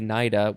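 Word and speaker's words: cnida: new latin naida or yeah probably naida with the c which means nematocist nematocist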